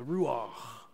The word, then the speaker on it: ruach: You have to have that wind just kind of go, linger over your vocal cords. It's like saying my last name traditionally in German, Bach. It's the ruach. That's how you say it.